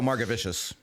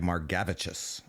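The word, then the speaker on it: Margevicius: I think I was I was ready to go Margaravicious and then I heard on the broadcast they were like Margavichous. It is Margavichous. That's that's how that's that's what the pronunciation key says on baseball reference.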